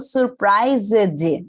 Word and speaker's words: surprised: Aqui, por exemplo, eu não falo surprised, eu falo surprised, surprised. O S tem som de Z e o E não tem som.